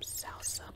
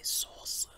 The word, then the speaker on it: salsa: the avocado verde salsa I notice a lot of Americans say sauca SAA it's salsa baby hey don't take my word for it ask a Hispanic it's like the dance the dance is the same word salsa let's dig in taste